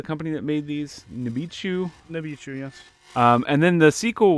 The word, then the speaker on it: Nichibutsu: How do you pronounce the company that made these? Nibichu. Nibichu, yes.